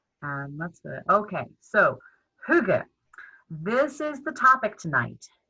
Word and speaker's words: hygge: a native speaker so the closest i can come is hygge if you say you're close enough really that will be fine